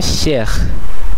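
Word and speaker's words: chers: যেমন এখানে শেখ শেখ শেখ। এখানে নিশ্চয় আপনারা খেয়াল করলেন এই শেষে পর্যন্ত উচ্চারিত হলো। কিন্তু সর্বশেষ এসটি উচ্চারিত হলো না।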